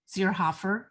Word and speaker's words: Zierhoffer: e r h o f f e r zerhoffer i mean you literally you know spell it like you pronounce it it's very easy